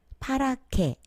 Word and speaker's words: 파랗게: 지금 노래에서 다시 들은 것처럼 노랗게, 빨갛게, 파랗게 히읗과 기역이 만나서 키읔 소리 내는 것을 공부했죠.